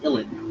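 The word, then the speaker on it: uilleann: so the illinois pipes which is spelled u-i-l-l-e-a-n pronounced illidan yeah right because why not well because ireland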